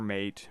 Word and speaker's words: MATE: I'm in Ubuntu Montay or Mait but mate' is the pronunciation by the developers and I'm going to